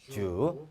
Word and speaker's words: 嘱: 발음은 이렇게 됩니다. 자 부탁할 척 주.